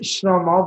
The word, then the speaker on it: Shelomo: Okay, so it's pronounced Shlomo, but what I do and when I go into schools and when I introduce myself to a large group of people, I tell people, imagine the word slow motion, right?